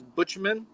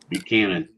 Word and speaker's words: Buchanan: James uh how do you say that? James Butchman. Buchanan. Buchanan. I was sitting there. Butchman. Butchman. Who the heck is a Butchman? James Buchanan.